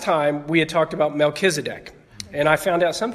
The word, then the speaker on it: Melchizedek: The last time we had talked about Melchizedek, and I found out some people pronounce it Melchizedek, which I do not.